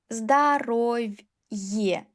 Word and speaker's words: здоровье: Здоровье. Е plus э.